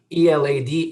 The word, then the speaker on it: Elad: that it is pronounced so how do we pronounce your name a lot elad is oh or you could say in a